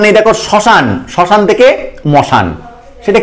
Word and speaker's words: শ্মশান: ঠিক তেমন যদি আমি আরেকটা মানে মানে উদাহরণ নেই, দেখো শ্মশান, শ্মশান থেকে মশান, সেটা কি জিনিস, শাক্তপল্লী গ্রন্থে আমরা পড়েছি শিব শ্মশানে মশানে ফেরে ঘরের ভাবনা ভাবে না।